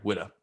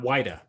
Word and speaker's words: Whydah: what spelling is but it's pronounced the same either way widow yeah just not wider don't be confused not wider not wider i'm sure huh i'm sure some people probably did call it weeda back then i'm sure